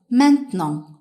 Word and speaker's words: maintenant: The word for now in French, maintenant. Maintenant. Let's break it down into syllables and say them one by one.